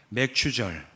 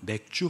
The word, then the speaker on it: 맥추절: 함께 예배를 드리고 있어요 맥추절 발음을 잘해야 되죠 잘못하면 맥주 감사절이 될 수가 있어요 그래서 옛날에 뭐 교회